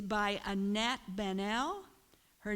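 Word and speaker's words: Baniel: It's by Annette Banel. Her name is spelled A-N-A-T. Last name is like Daniel, only with a B, B-A-N-I-E-L.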